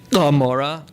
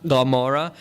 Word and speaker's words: Gomorrah: Usually you hear Gomorrah. I'm translating it as Amorah. The first letter of the word in Hebrew is an ayin, which is pronounced with a guttural G by more traditional speakers.